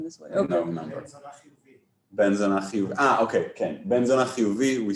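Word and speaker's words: בן זונה: And then if it's a curse word, it's on the zona. It's on the na.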